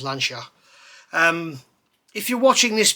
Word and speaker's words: Lancia: petrol head with lancia lancia is the way everyone in the uk says it but the correct pronunciation is lansha um if you're watching